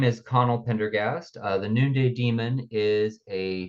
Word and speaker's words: Pendergast: Today I'm here with Conall Pendergast, or Pendergast. I said it wrong, even That's okay. Pendergast. Yeah, I Pendergast. put in an Very extra close. R in there.